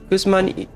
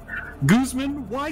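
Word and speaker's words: Guzmán y Gómez: have here is Guzman how do you say why in Spanish why yeah the why like like is it is it Guzman e something like why is you pronounce yes yes e that's it Guzman e yeah Guzman in Gomez I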